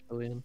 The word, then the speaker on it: Fillion: It's got Neil Patrick Harris and Nathan Fillion. I think that's how you say his name. Yeah. Yeah. It's just that's Nathan Fillion.